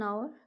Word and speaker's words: hour: Honest person and hour. Here H is silent, so they sound like O and O, sound like O.